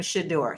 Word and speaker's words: Shedeur: Now, I'm noticing he is pronouncing his name Shador. So, I'm going to switch